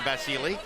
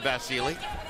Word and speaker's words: Vasyl: end of Vasil, it it is apparently customary in Ukraine where he comes from in Eastern European. Get up, get off the moon or Eastern Europe to add the E sound. So he pronounces his name Vasilei. That's why we're calling him Vasilei.